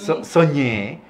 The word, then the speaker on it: Sogné: S-O-G-N, Soñé, François Soñé, que luego lo dominicanizó a sí mismo, Soñé. Sí, porque la G-E-M es la ñ francesa.